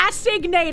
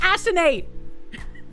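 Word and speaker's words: assignate: I don't want to asate. I want to asinate.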